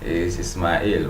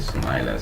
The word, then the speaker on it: Ismail: So yeah, actually is Ismail, but we normally pronounce it Smiler.